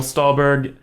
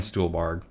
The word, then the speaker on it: Stuhlbarg: Michael Stuhlbarg. Stuhlbarg. For the first time like this year, I realized that's how it's pronounced.